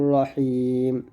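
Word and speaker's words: رَحِيم: লিখবেন হবে তানজিলাল আজিজির রহিম। এখানে রাহিম বলবেন না, র মোটা করবেন, এই যে পাতা চিহ্ন যেখানে মোটা করবেন সেখানে তানজিলাল আজিজির রহিম রহিম রহিম।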